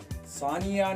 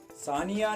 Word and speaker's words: Sania: सानिया नाम का स्पेलिंग है SANIA, सानिया।